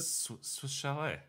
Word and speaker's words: Swiss Chalet: no s sale shal isn't that how you pronounce it Swiss Chalet Swiss chal yes exactly well I thought you